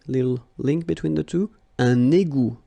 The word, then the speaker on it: un égout: Un égout. Okay, little link between the two. Un égout. Final T not pronounced.